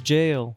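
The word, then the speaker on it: gaol: It's supposedly the Old English spelling for it, and they also use Old English spelling for this word, which is pronounced as jail.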